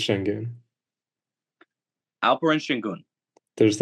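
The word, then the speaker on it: Şengün: Yeah, but it's pronounced shenun.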